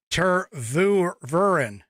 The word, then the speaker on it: Tervuren: Oh, Tervuren is how it's pronounced.